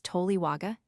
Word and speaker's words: toliwaga: Thus the compound word pronounced without hiatus toliwaga means owner or master of a canoe wagas.